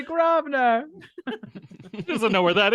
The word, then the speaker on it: Grosvenor: She can't even say Grosvenor. She doesn't know where that is. She probably never even lived there. I think you say it like governor.